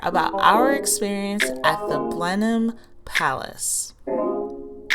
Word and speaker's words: Blenheim: thing we learned was we were pronouncing it wrong it's Blenheim not Blenheim I'm not the history